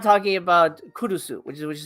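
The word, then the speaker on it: Curucu: strange feature app but it's not talking about kurusu which is which is how you pronounce the movie kurusu because it's about the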